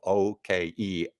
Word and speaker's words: Okeh: In the early 1920s, the Victor and OK recording companies, and that's spelled Okeh, OK recording companies, made a leap to record early country artists, making them trailblazers in the genre.